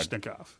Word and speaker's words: Kalashnikov: Okay, It's actually pronounced exactly the way it's spelled. It's not that hard. Kalashnikov.